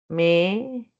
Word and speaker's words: México: México, porque el se pronuncia diferente como velar ja y en el otro